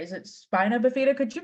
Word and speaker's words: spina bifida: Is it spina bifida? Could you pronounce that for me? I'm afraid that I... That's okay, Alex. So I always pronounce it spina bifida, and upper motor neuron dysfunction.